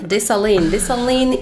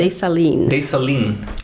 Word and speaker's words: Dessalines: And Dessalines is the founder of the country. Say the name again. Dessalines.